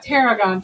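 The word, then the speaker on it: tarragon: not have got it it sounded like a p instead of a t Teragon t a r r a g o n ter Aon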